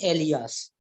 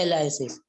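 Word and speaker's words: alias: अब इसी में ही एक कंसेप्ट और आता है जिसको बोलते हैं एलियास, है ना, एलाइसिस, एलाइसिस बोलते हैं हम, एलियास, एलियास बोलते हैं इसको, एलाइसिस बोलते हैं, एक्चुअल प्रोनाउंसिएशन क्या होता है, एलाइसिस।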